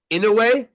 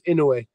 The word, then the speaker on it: Inoue: Inoue. That's the correct pronunciation. Okay. Oh well, I apologize because I've been off. I've been calling him Inoue.